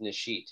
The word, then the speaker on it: Nishit: wanna say first that your name is pronounced nishit is that correct yeah okay i have